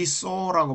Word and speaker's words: sew: 자, 이 so라고 발음하는데 이 so는 바느질하다, 깊다 이렇게 말하기도 하죠.